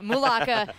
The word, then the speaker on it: Mulaka: Mulaka.